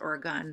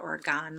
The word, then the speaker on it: Oregon: know the one because it's pronounced Oregon when you live in Oregon even though I pronounce it orgon my entire life until I moved here I said I would